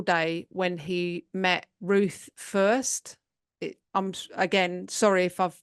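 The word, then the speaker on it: Fuerst: when he met Ruth first I'm again sorry if I've mispronounced that f u e r St T so it's like first but first a and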